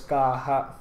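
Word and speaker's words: Caja: Kaja which which how we pronounce normally is pronounced as kaha anyway moving on further moving on forther what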